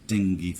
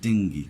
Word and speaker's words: dengue: যেমন the patient is suffering from COVID-19 like that, he is suffering from ডেঙ্গি fever, from ডেঙ্গি, নট ডেঙ্গু, কি উচ্চারণ, ডেঙ্গি, DENGUE।